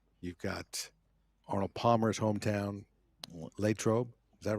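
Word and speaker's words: Latrobe: Lrobe. Is that right? Am I saying it right? It's not Latroe.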